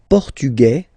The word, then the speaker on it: portugais: The only difference between the two, as usually when we'll have some, nationalities ending with AES, like that, e, and then the feminine form, es, okay, it will